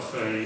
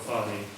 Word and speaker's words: Fahy: We call it Fahy, you call it Fahy.